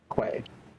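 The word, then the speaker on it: Coi: Koi, by the way, from the Basalt House. What did you say his name was? Koi. Quay.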